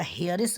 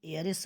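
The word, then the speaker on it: heiress: तो इसका हेयरेस मत पढ़िएगा, इसका प्रोनाउंसिएशन एयरेस होता है, ए से होता है, अतः ए है।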